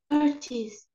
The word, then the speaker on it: curtains: chairs no curtains don't read e i don't read it curtains okay look this eye we don't read it curtains curtains curtains yes pictures pictures